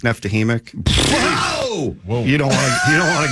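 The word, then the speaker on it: Neftekhimik: You're never going to pronounce that name. No. How do you say that one? Nizhnekamsk, Neftahimik.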